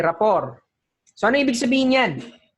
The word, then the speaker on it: rapport: so yan ah rap r a p o r t silent t ror Okay ror so Anong ibig sabihin